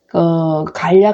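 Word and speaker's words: 樂: 오늘 주목 할 점 은 ' 좋아하다 ' 라는 의미 일 경우 ' 요 ' 라고 읽는다는 것 입니다 . ' 요 ' 라고 읽어야 합니다 .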